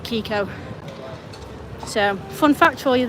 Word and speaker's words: Keiko: So, I spelt it Keiko, but I pronounce it Kiko.